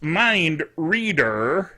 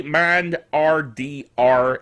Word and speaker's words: MindRDR: Anyway, it is pronounced MindRDR, haha, but it's really MindRDR and the last three letters being capitalized, as it says on the screen.